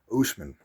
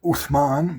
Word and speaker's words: Usman: But his name is not Usman. It's Uthman. Uthman.